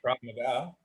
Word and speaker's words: Krav Maga: Krav Maga, the Thank you.